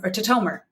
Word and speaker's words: Tatomer: And today I have with me my friend, Emily Tatomer.